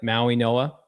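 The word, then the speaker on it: Mauigoa: Ma Ui Noa. Is that it? The G is silent. Ma Ui Noa.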